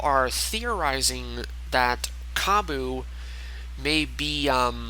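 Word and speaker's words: Bea: And then we have B, or as I initially announced her or pronounced her as Bia. It's just simply B, which kind of doesn't exactly make sense when her name is spelled B-E-A.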